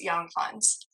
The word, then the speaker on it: Younghans: Yeah, if you read that J as a Y, it's young, and then read the last part like Hans Millennium Falcon, so Hans, young Hans.